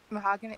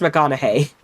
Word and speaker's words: McConaughey: Mahogany? I don't know. It sounds like a... Mahogany. That's what I thought it was! It sounds like it is a noise of... It is pronounced McConaughey.